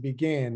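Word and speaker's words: Bigen: walmart um is it b jin is it am i pronouncing that right it's uh it's actually pronounced begin it's the hair dye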